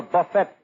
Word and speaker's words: buffet: I invited them over to my house for a buffet supper. Not buffet supper. It's buffet. The T is silent.